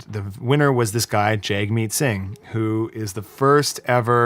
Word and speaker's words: Jagmeet Singh: I know that Jagmeet Singh won. Yeah. I don't know that that's how you pronounce his name.